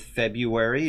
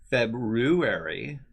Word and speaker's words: February: the month it's almost however you want to pronounce the month you can go with February if you want Even though that's not at all how it's spelled who could go with February you could even do February February Feb February February